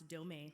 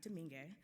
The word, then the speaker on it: Domingue: d stands for domain this will pronounce domain not dominguez uh most folks call